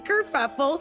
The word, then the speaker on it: Kerfuffle: I'm Kerfuffle, spelled like it sounds, with a double for the fuff.